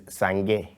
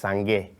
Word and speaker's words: Sangea: But the name Sangea is from a Liberian name that would be given to a female, which is Sangea. Oh. Yeah, pronounced Sangea.